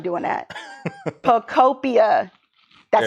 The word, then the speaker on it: Pokopia: Pokopia. That's how you pronounce it.